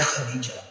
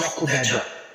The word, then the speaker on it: خدیجہ: رضی اللہ تعالیٰ عنہ، آپ کا جو ذاتی نام ہے وہ ہے خدیجہ یا خدیجہ، دونوں نام آپ کے بولے جاتے ہیں، دونوں تلفظ میں خدیجہ بھی اور خدیجہ۔ آپ کی جو ولادت